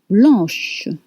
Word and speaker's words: blanche: Now, blanc becomes blanche with sh sound at the end.